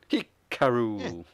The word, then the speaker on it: Hikaru: I us pronounce itar I was going to pronounce it the way um hiar what's her name Dasha pronounces it Hikaru yes uh Hikaru shida